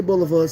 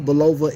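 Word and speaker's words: Bulova: Some people say Boulevard, some people say Bolova. I believe Bolova is the proper way.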